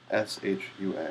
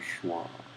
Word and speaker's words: Shua: It wasn't Shua, it was Schwa. And actually, I think one of the first times OTDE and I talked, he said, wouldn't it be funny if you pronounced your name Schwa instead of Shua? I said, yeah. But that's actually how you're supposed to say it.